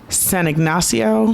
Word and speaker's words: San Ignacio: Now the food in Belize City, we were in the Cayo district, and San Ignacio.